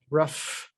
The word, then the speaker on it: rough: We take the example of night, N-I-G-H-T, versus rough. You know, all of you here watching this understand that we've got a different sound at the end of this word than we do in the middle of this word. Here it's just nothing, and here it's f.